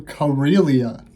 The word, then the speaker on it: Karelia: Ghost of Karelia. That's how you pronounce it.